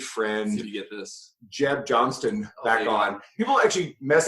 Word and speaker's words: Johnston: you get this Jeb Johnston back on people actually mess up on Jeb's name there's a t in there it's Johnston people say Johnson I know you get